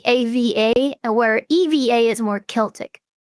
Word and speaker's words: Eva: Some people uh wonder if it's Eva or Ava. Well, I mean, I accept both, but I pronounce it like Eva.